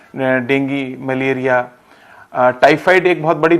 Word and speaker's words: डेंगी: Season में होता है डेंगू, तो वो कब और कैसे होता है? तरन्नुम जी, देखिए, डेंगी, इसका जो सही प्रोनाउंसिएशन है वो डेंगी है।